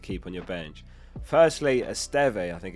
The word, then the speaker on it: Esteve: Firstly, Esteve, I think it's pronounced. It's not Easy Steve.